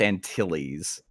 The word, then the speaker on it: Antilles: to do your job it's pronounced antilles oh it's my bad